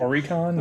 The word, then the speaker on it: Oricon: There was an extended edition that was debuted at number 29 on the Japan's Oricon, I think is how you say that. Oricon, yeah.